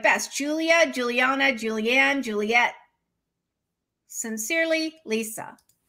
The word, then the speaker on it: Julia: So I have always understood Julia, not Julia. Julia. Sorry, that's a Big Brother reference. Julia. Julia. Julia. So I see it as three syllables.